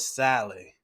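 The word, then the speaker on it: Saleh: times and they've hired 49ers defensive coordinates robert sally i was saying it right but shot but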